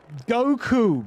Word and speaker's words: Goku: Z his name is I want to say his name is goach Chang but that's an ingredient which consists of soybean soy soybean paste and chil and it's it's not it's it's Goku that well-known character Goku from the Dragon Balls